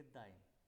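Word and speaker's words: dein: दो का possessive article दाइन।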